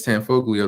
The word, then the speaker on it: Tanfoglio: the brand right here tenfold i believe it's tanfoglio that's how you pronounce this the ea it's based off of